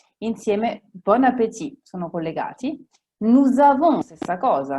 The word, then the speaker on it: nous avons: Nous avons, stessa cosa. Nous da solo si direbbe nous. Ma siccome la parola successiva, il verbo avere, comincia con la A, si attacca. Nous avons.